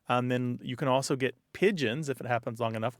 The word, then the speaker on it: pidgin: And that's spelled Pidgin. That's right, Pigeon. Not like the bird.